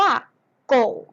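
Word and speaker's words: 狗: นั่น เอง นะ คะ ภาษา จีน นะ คะ ออก เสียง ว่า โก่ง อาโกะ กบ ระ วัฒน์ สุนัข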